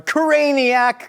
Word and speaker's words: Caniac: We're gonna drop these in and then we get to actually assemble our craniac combo. It rhymes with maniac.